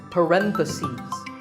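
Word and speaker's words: parentheses: bracket you say parenthesis the stress is on rent if you're talking about both the plural is parenthesis the last syllable becomes cease parenthesis word number 47 is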